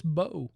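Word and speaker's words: Mbow: Marcus Embo. I know him. He's a rookie from Purdue and he's 302 pounds. You know the M is silent. It's Marcus Bo.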